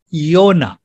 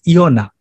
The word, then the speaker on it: Jonah: jesus talked about jonah the new testament says jonas the old testament says yonah english bible says jonah the correct greek pronunciation is iona in new testament jonah